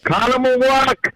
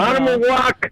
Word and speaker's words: Oconomowoc: like Oshkosh and Milwaukee and I'm going to pronounce it wrong. Do it, Harris. Do it. Oconomowoc. Look at you go. Oconomowoc.